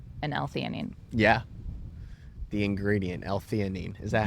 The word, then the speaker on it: L-theanine: The ingredient, L-theanine. Is that how you pronounce it?